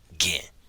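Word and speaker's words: ခင်: verb followed by the particle kin, sometimes pronounced gen.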